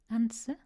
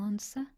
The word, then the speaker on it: answer: And we've got a silent W in answer or answer and sword.